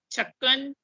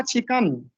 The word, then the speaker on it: چھکن: جی یہ سب سے پہلے دیکھیے، یہ لفظ ہے چچا چھکن. چھکن بھی نہیں ہے، چھکن، چاچا چھکن. چھکن جی چاچا چھکن، چھینک والا سر. چاچا چھکن ہے.